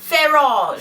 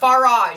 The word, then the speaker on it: Farage: friend Nigel Fage Fage we were told it's pronounced Fage Fage even though it's not spelled that way in America looks like it's far f a r farage farage that's how we say it here America